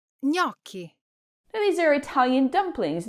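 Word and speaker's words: gnocchi: But in Italian gn creates a single soft nasal sound.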